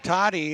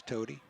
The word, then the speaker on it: Tody: Westwood puts Toddy in at the tailback spot. Hand off to number 23. Drags a couple of Panthers for a few yards. Tackled by Nick Cotting. Tody. Sorry, correct pronunciation is Tody.